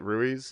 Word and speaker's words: Ruiz: you to say your last name is it Ruiz yes yeah yeah so you know we all